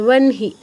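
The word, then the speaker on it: বহ্নি: যেমন ব্রহ্ম ছাড়াও আরও কি আছে, ওয়ানহি, ওয়ানহি, হ যোগ না, তো আমার নটা আগে উচ্চারণ হচ্ছে, হটা পরে উচ্চারণ হচ্ছে, ওয়ানহি।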